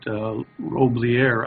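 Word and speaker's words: Roblyer: And I'm excited to be here because for some time now, I've followed the work of Margaret Roblier. I think that's not how she pronounces her name, R-O-B-L-Y-E-R, and William Wenke, I think is how you pronounce it, W-I-E-N-C-K-E.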